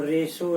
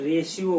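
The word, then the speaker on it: ratio: इन the same रेशियो, ऐसे English में इसको रेशो पढ़ा जाता है, लेकिन चूंकि सामान्य मैथ के टीचर या साइंस के टीचर अक्सर इसको रेशो ना कह के रेशियो बोलते हैं, लेकिन सही साउंड इसका होता है, प्रोनाउंसिएशन होता है रेशो।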